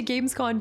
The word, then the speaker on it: Gamescom: No, it is con, not com. I was like, that doesn't even make sense. Make it make sense. I would say Gamescon too.